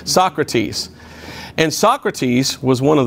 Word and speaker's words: Socrates: to a man named sokrates no that's not how you say it socrates and socrates was one